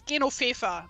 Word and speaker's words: Genoveva: So in German it's Genoveva, but that's just a German version of Genevieve in French.